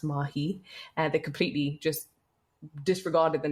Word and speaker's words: Mahi: I said it's pronounced Mahi. They completely just disregarded the name. They called her Maya, which again was perhaps because they just saw